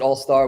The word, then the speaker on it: AllSTR: I pronounce it AllSTR. We spell it ALLSTR for short-term rentals, which I didn't realize